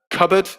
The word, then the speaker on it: cupboard: in british pronunciation um cupboard is a good one says crystal yep cupboard it's spelt with a p but the p is not pronounced subtle is a very